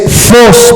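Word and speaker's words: φῶς: de que lo apunten, es phos, pero se escribe PH, en vez de F, PH, y esa es la palabra phos en el griego. Ya de ahí escribes OS, phos, PHOS, phos.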